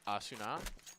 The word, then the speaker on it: Asuna: So apparently it's Asuna.